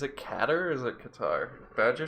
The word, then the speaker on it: Qatar: Badger said it was Qatar. No, well, in Arabic you say Qatar. That's how he actually pronounces it. Okay. It's double emphasis on the T, so it's like double T, but you only write it one.